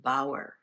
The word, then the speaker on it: Bower: Tower rhymes with Bower.